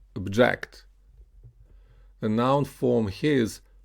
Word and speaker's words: object: The noun here is pronounced object, and the verb form is pronounced object.